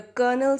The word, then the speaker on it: colonel: L it's Colonel so this is how you pronounce this word let's look at an example the colonel said the situation is under control so note